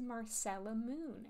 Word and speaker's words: Marcella Moon: going I'm snuggly and this is Marcel Moon as Google reliably tells me it's pronounced this is a game